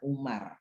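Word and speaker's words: عمر: itu kata Amr itu kalau ada waunya dibaca Amr kalau nggak ada baunya dibaca Umar kalau ada wawunya dibaca Amr atau Amru kalau nggak ada waunya dibacanya Umar kalau ada alifnya dibacanya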